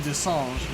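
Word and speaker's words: De Singe: Which, the only one who doesn't call him Desange, which is how it's actually pronounced, is Threepwood.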